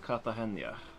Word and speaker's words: Cartagena: if ever the spirit Cartagena is pronounced katha Chania yeah I guess that's